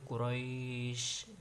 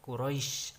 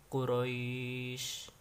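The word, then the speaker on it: قريش: bi'ih bi'ih dan Laila dan Quraisy itu adalah mad layyin Ya dibaca panjang habis Aduh harokat bisa empat harakat atau 6 harakat cara membacanya adalah dengan santai yaitu Quraisy jangan Quraisy atau quroisy itu gak boleh jadi santai saja Quraisy kemudian dia ayat yang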